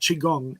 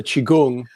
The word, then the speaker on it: qigong: it wrong and also qigong sometimes people pronounce it slightly differently but because it's spelt q-i-g-o-n-g q-i could be spelt c-h-i so that's chi energy gong is practice i